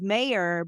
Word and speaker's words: Meyer: want her and then my last name which sounds so simple is Mayor but it's spelled like Oscar Meyer and so I was